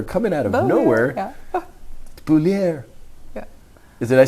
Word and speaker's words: Beaulieu: How do you pronounce her last name? Bowler. Jacqueline Beaulieu coming out of nowhere. Yeah. Beaulieu.